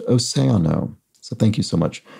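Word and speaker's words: océano: on the Spanish word for ocean Sam says Oceano is pronounced oseano so thank you so much for that correction Sam AKA Frisco 17.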